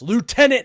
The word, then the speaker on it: lieutenant: Why is it lieutenant? Why do you guys say it like that? Lieutenant. There's no F there. A Lou. There's a Lou, but no left.